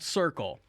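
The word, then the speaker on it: Cirkul: name the name of the company is called circle circle is spelled c-i-r-k-u-l because we're hip and recoil but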